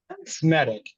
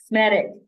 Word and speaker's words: Smetak: Remind me how to pronounce it correctly. Smetak. Smetak.